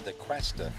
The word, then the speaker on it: DaCosta: It's DaCosta is the way you pronounce it there. I think I said DaCosta, but it is DaCosta.